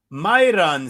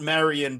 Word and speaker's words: Myron: All right, we've got Super Sodique Yousef plus 114 versus the legend Myron Santos, not Marian Barber. Let's get it. Let's get it straight, people. Let's learn. I before R means Myron.